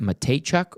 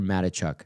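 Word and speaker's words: Mateychuk: Is it Matejchuk or Matichuk? I'm pretty sure it's Matejchuk. Is it? And sure. I know I was looking at the pronouncer, but I know some like Matichuks from around here. Oh, really? It's like, it's the spelling's the same, but they don't hit the Tay very hard.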